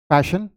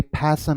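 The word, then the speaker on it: passion: ठीक है, तो इसमें आपको क्या करना है, पैशन जो मैं आपको पहले बता दिया, लेकिन मैंने नोट्स में ये मेंशन कर दिया कि आपको करना क्या है। Don't bring your lips together, else ये क्या हो जाएगा, ये फैशन हो जाएगा, फैशन। ओके, तो आपको वैसे नहीं बोलना है।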